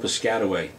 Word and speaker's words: Piscataway: I'm from a little town called Piscataway. It's in central Jersey, and yes, it's spelled just as it sounds.